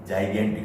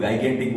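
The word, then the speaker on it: gigantic: मैं सिर्फ बोलने का इस पे जो प्रोनाउंसिएशन है उसको याद रखो, ह्यूज, जाइगेंटिक। कई लोग गाइगेंटिक बोलते हैं, कोई जाइजेंटिक बोलते हैं, जाइगेंटिक क्या है, जाइगेंटिक एंड मैसिव, विशाल।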